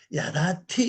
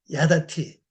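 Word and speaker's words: יָדַעְתִּי: 야다니다 야다 이렇게 합니다 야다 티 이렇게 발음하면 됩니다 야다 티 요겁니다 예 야다 티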